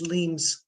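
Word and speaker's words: Leims: And also the pronunciation of our last name is Leams. Leans, thank you. I was Leams. It's like L, it should be spelled L-E-I-M-S, but yeah, the I is silent.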